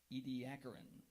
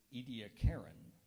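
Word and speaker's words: Ediacaran: soft-bodied marine organisms of the late Precambrian era Ed aarin are there any alternate pronunciations there is edaran edaran e d i i a c a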